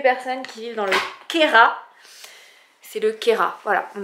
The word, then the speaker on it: Queyras: non c'est ka voilà on ne prononce pas le S ma PIPA d'amour ne